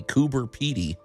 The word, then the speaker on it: Coober Pedy: us this is interesting and for once I pronounced it correctly kuber pey and I'd like to preface this by telling